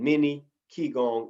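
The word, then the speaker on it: qigong: quan t-a-i j-i-q-u-a-n tai g-quan t-a-i j-i and many key gong exercises that's q-i-g-o-n-g that's just the alternate spelling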